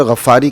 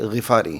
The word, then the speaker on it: غفاری: اللہ تعالی عنہ ہیں۔ بعض لوگ اس کو پڑھتے ہوئے غفاری کہہ دیتے ہیں، تلفظ ٹھیک کیا کریں۔ یہ حضرت ابو ذر غفاری نہیں ہے بلکہ غفاری ہیں، قبیلہ غفار سے ان